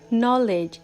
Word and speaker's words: knowledge: For an example, the word knowledge starts with the letter K, but K is silent in the word knowledge.